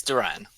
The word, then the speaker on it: Duran: be taking Duran mhm yes Duran just like dur Duran okay not n rude